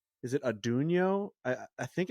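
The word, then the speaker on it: Atunyote: Yeah, it's Adunio is how it's pronounced. Okay. Because I think I called it Atten-yote, and they were like, "That's just not that's what that's the fanatic.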